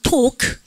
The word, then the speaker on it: talk: 발음하니까 talk.